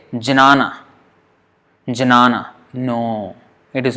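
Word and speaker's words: jñāna: So there is a kind of G kind of sound.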